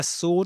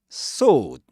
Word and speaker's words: sword: The sword of Gryffindor is my price. The sword of Gryffindor is my price. Sword.